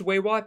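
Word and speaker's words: Weywot: moon might I add w-e-y-w-o-t I really hope it's pronounced way what because I think that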